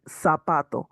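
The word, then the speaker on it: zapato: There's no pronunciation wrong like in the Z like sapato. Sapato is is like an S.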